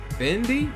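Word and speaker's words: Phendi: Next up is Who's in the House, performed by Eric Sherman and, how you pronounce this? Fendi?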